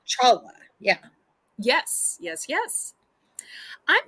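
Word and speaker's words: challah: Jewish bread it's called well it's spelled different but it's called holla but like Chala yeah yes yes yes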